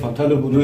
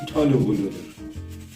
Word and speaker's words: phthalo blue: It says phthalo blue on it , but it's pronounced talo blue .